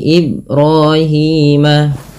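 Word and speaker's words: إبراهيم: biru ba di sini dibaca dengan bacaan qqalah yaitu artinya memantul apa dipantulkan adalah bunyi suara huruf ba-nya yaitu IB nah tidak dibaca dengan Ibrahim beberapa kesalahan yang terjadi adalah tidak membacanya dengan memantul contoh am millati ibrahima nah ketika tidak memantulkan ini ba bacaan yang salah maka ia perlu diwantulkan sehingga bunyinya ibrahima kesalahan yang kedua di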